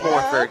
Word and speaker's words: Morford: It's Morford, right? Because I keep wanting to call you Fried Rich. You've lost your identity, Jake. It's Morford.